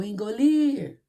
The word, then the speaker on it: engolir: O engolir. Viu que a tia falou lir mais? Demorou mais nessa sílaba? Então, ela é oxítona.